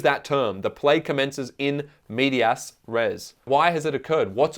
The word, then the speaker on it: in medias res: does the play commence in medias Rey or in media Ray it's sometimes pronounced yeah very good at